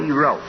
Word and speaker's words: dero: So D-E would be pronounced in that alphabet as D. So, and Rho. Rho, so it's R. D-Rho. D-Rho. D-Rho.